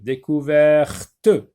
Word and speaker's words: découverte: J'ajoute un E, découverte. Donc le T maintenant se prononce. Tout à l'heure on a dit découvert, maintenant découverte.